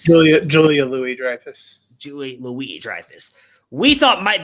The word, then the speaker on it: Julia Louis-Dreyfus: we thought maybe and i always say her name wrong julianne dreyfus right is that correct julia louis-dreyfus julie louise we thought